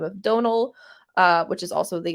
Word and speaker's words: Donal: by the name of Donal uh which is also the exact same name as Donald Gleason um if you want to know spelled Donal like tonal which is the same